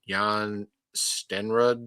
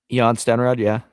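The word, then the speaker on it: Jan Stenerud: Anderson, Nick Lowry, and I always for pronounce his name. It's like Jan Yan Stenrod Sten. Yan Stenrod. Yeah, that's it. Yeah, I always forget.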